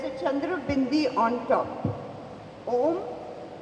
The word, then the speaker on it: Om: chandra bindi on top om in sanskrit is a three and a half syllable word it is not om when we meditate it